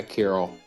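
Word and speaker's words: Kiryl: Carol, probably spell it. K I R Y L. Yeah, Carol.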